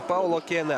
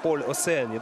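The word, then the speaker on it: Paule Océane: Но все-таки, согласно, наверное, правилам французского языка, не Паул Окене, а Поль Осеане. Да, так, наверное, будет правильнее произносить имя и фамилию этой спортсменки.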